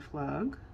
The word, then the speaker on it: Pflug: We have some stickers here from Leanne Flug. And I believe it's Flug or Flug. I think the P is silent.